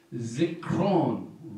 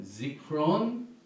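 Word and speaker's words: זִכְרוֹן: 지크론 로죠. 이게 오 발음이죠. 지크론 그다음에 테루아 나팔.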